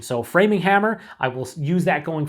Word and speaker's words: Framinghammer: indicated to me that I'm actually pronouncing uh framing hammer wrong I say framinghammer it's actually framinghammer not framinghammer and I always say this